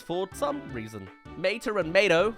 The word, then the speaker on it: Mato: Mater and Mato, like Tomato (I disagree with that pronunciation) go on to a series of competitions.